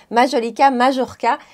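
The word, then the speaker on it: Majolica Majorca: groupe Shiseido et donc ça se prononce majolica majorka c'est pas comme à l'espagnol le J ne se prononce se prononce comme comme en français et donc merci à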